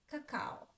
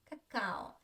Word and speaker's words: какао: we have a, ka, I don't pronounce clearly ka. I say it shortly. Cacao, caca, caca, caca. The second a is clear, a. The first not, caca, caca, cacao. If the stress was on the first, it would be caca, cacao. But it's not here, it's not correct. But I just want you to feel the difference.